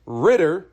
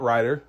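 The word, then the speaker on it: Ridder: It is Ritter. The quarterback for Atlanta is Ritter, not Ryder.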